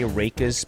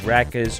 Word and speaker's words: Rakus: onward and upward so my character name is going to be reikis spelled r-a-k-u-s um i just like to say raikes but i i guess most people would say rackets or ruckus which is also cool um but that